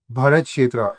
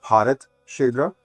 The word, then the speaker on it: Bharat Kshetra: So Bharat Shetra uh the way we call it uh and